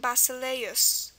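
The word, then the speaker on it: βασιλεύς: a U, as in this word, which is pronounced basileus.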